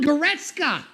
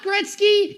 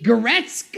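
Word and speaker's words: Goretzka: Leon Geretska, not Gretzky. Geretska. I think I might have pronounced it correctly.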